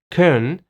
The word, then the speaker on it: Köln: And historically, major cities in Germany also have a little bit different pronunciation. For example, the German city of Köln in German is Köln, but in English, it's Cologne.